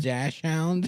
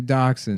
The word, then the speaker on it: dachshund: They're dachshund. There's nothing called a dash hound. It's spelled like that.